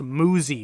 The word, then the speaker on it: Muzzy: Mortals a game like Muzzy uh which is apparently pronounced muzy which I hate with